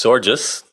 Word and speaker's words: Sorgius: my guest today georgeous gorgeous or just I've been told so I just rhymes with gorgeous stuff to get the